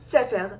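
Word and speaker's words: ספר: and the way that you say it is sefer, and the way that you spell it is samech pei resh.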